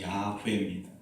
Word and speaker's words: 야훼: 이 나는 나다의 첫 글자들을 따서 하나님의 이름을 여호와라고 부르게 되었고, 실제적으로 히브리 사람들의 발음으로 하면 여호와가 아니라 야훼입니다.